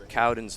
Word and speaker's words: Cowen: to uh Mr Joey cowen's family I was mispronouncing his name earlier cuden it's actually Cowen so Cen yes Cowen that's my fault I've